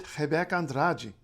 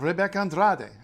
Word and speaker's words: Rebeca Andrade: Heek andrai why not Rebecca Andrade I mean that's what it looks like right yeah so um Portuguese yeah um Portuguese is not pronounced like Spanish or really like any other language and in fact Portuguese